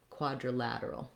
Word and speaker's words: quadrilateral: It's going to be a reduced vowel, so very short, quadrilateral.